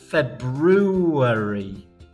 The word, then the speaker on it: February: think well it isn't February I think is very difficult f-e-b - are you a r y eat it it's February hmm but we don't say it like that do we oh dear spelling